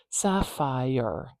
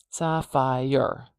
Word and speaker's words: sapphire: that marker in already Sapphire Sapphire some people want to put an extra syllable in there Sapphire Sapphire Sapphire Sapphire and that's perfectly allowable you can especially if